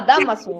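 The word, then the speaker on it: Dámaso: Damaso tiene tilde en la A. En la A, Damaso, sí.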